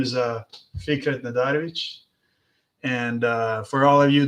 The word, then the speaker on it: Nadarevic: That's the real pronunciation of the name. People are always anglicizing it and changing it.